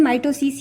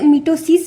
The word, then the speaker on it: mitosis: तो ये माइटोसिस है इसका प्रोनाउंसिएशन माइटोसिस ही होगा लेकिन कभी-कभी लोग इसे मिटोसिस भी बोल बोलते हैं।